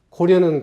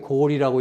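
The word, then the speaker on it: 高麗: 징보 민원비고, 박경가의 동원고에 모두가 고려는 고리라고 읽어야 되고 구려는 구리라고 읽어야 되고 고구려는 고구리라고 읽어야 된다고 나와 있다.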